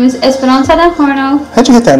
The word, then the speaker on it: horno: to change something and the horno was just fun because it rhymes with porno horno I love fun that's